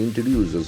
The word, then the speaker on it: introduce: Government introduces. Government introduces. Introduce is a beautiful verb here. I-N-T-R-O-D-U-C-E. Introduce. The T sound is very prominent. Introduce. Introduce. Accent falls on the third syllable.